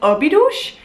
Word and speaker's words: Óbidos: I bought into a little town called, and excuse my Portuguese pronunciation, I think you're supposed to pronounce it Óbidos.